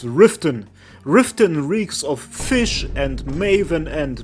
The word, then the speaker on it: Riften: Next up, get yourself a mod called Riften. That's how you pronounce it.